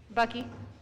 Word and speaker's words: Buckley: say your last name Bucky like Buckley without the L Bucky we're at the